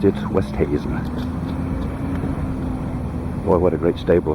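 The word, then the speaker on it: Oosthuizen: I may be one of the few men on the planet other than Louis himself who pronounces his name right. It's Westhuizen, not Oosterhuizen or Uzi, whatever. No, it's Westhuizen.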